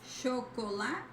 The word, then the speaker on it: chocolate: See the difference? It's not cha but cho. Chocolate.